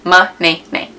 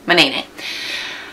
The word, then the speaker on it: Manaynay: Manaynay. That's how it's pronounced, guys. Manaynay. Manaynay.